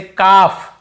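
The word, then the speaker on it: calf: अब चलिए देखते हैं एफ से पहले लो वहां पर दी से पहले हो तो नहीं पढ़े यहां पर अप से पहले तो भी नहीं पढ़ते जैसे कफ कफ कफ हाफ हाफ ल को यहां पे नहीं पढ़ने कल्पहाल्ट नहीं पादना है कफ बछड़े को बोलते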